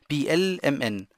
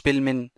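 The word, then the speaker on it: PLMN: وديت بي ال ام ان مش بيلمن، في ناس بتقولها بيلمن وبستن، مش صح الكلام ده، ماشي؟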